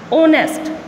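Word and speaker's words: honest: अब ये हमारे पास ऑनेस्ट, तो ये हमारे पास एच क्या है, कॉन्सोनेंट है, इसने साउंड किसकी दी है, एच क्या है, साइलेंट है, इसने साउंड किस चीज़ की दी है हमें, ओ की, तो यहाँ पर क्या लगाएंगे, एन।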